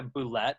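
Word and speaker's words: bulette: Is that a boulette? I'm not sure what his most prized. Oh, you have pronounced it incorrectly. Well, I know it's supposed to be pronounced boulet, but that's not.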